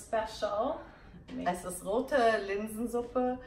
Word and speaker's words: Rote Linsensuppe: Es ist Rote LinsenSuppe. It's a red lentil soup. That's what she said, right? Yes. Maybe you can teach me how to say it. Rote LinsenSuppe.